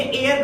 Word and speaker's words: heir: ही इज़ अब यहां पे ये वर्ड हायर नहीं है। ये एयर का साउंड देगा। एयर जैसे एयर कान होता है ना उसकी ये साउंड देगा।